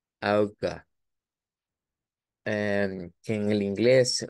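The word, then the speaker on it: Auge: eh recordar que en inglés el ojo suena a i que se escribe con e y e y que en alemán se escribe con a u G e y que su pronunciación es como auga auga eh que en el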